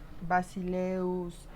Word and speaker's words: basileus: Los temas en diptongo eu, que son los más numerosos, son todos masculinos y todos oxítonos, es decir, su acento va a estar en la última sílaba. Tenemos halkeus, agileus, basileus, y siempre van a estar acentuados en la última sílaba.